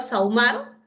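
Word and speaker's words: sahumar: Por ejemplo, en la palabra saumar, ¿hay grupo vocálico? Claro, hay grupo vocálico. Se está pronunciando la A con la U. La H no tiene sonido.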